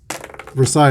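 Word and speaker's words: Versalles: Zoilo Versailles. Versailles, that's how it's pronounced.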